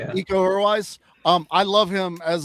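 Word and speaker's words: Iko Uwais: Um, Io or Io, I forget how you pronounce it. Ecoise. Yeah, eco-wise.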